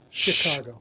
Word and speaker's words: Chicago: It's soft C. Chicago. Chicago. The second C is.